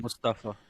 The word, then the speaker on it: Mustafa: uh mustafa ali and he pronounces it mustafa is that is that correct i'm curious islam it is it is supposed to be pronounced about mustafa yeah okay because he